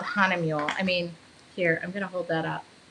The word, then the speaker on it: Hahnemühle: I should tell you how to spell it. It's not easy. It's called Hanemule.